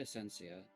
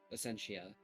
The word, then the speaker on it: Essentia: take a look at ascencia Essentia sorry I always pronounce it wrong trick anything of note